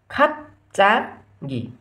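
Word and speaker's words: 갑자기: भनेपछि हामीले यसको उच्चारण के गर्नु पऱ्यो त, खमा खा यसलाई त प नै भन्नु पऱ्यो, यसलाई चाहिँ च भन्नु पऱ्यो, चमा चा यसलाई के भन्नु पऱ्यो, गमा इ गी, खाप चा गी, खाप चा गी भन्नु पऱ्यो है त।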